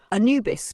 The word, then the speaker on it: Anubis: Anubis, pronounced Anubis, is one of the most ancient Egyptian gods, predating even the rise of Osiris worship.